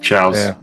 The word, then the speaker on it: Chao: And also you had the Chaos, or the Chows, what you might call them. How do you pronounce it? Chows.